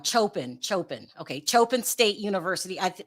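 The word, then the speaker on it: Coppin: Chopin.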